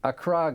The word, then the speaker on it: Accra: So I think it's pronounced Accra, isn't Accra, it? excuse me. Accra, Ghana, okay. So Roslyn, you've told us that you used to be a true believer.